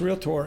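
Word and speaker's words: realtor: him in his profession I encourage you to pronounce real tore as real tore not as three syllables because it may diminish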